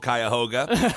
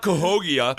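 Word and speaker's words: Cuyahoga: I was really hoping you were going to mispronounce Kyhoga Falls because I know that it's called Kyahoga. And I was going to be like, "Uh, no, it's not Kogia or whatever."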